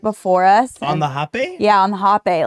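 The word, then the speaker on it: rapé: The R is an H sound in those Right. countries. Mm-hmm, Hape.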